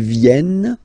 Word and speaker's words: viennent: Ils viennent, elles viennent. Ils viennent, elles viennent. Alright? E-N-T, you don't pronounce them.